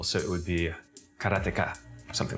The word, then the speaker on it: Karateka: I think when I was a kid, I always said Karateka, because it's like you say karate and you just add the ka.